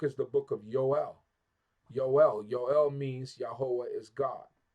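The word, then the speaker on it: יואל: the book of yoel yoel yoel means yahwah is God so now yoel the Hebrew alphabet does not have a j sound yoel right so how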